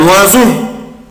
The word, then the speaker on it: oiseau: une berceuse شنيور un oiseau un oiseau un oiseau un oiseau un oiseau oiseau خد بالك بنطقها ازاي oiseau oiseau نطقها طبعا حرف الاس يا ولاد زد et finalement comme d'habitude